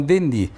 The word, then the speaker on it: Denis: Por que Denis? Porque o S final não se pronuncia no francês, então Denis.